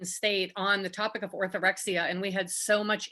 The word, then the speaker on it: orthorexia: to be discussing and correct me if i'm pronouncing it wrong orthorexia yes orthorexia okay um so let's start off with just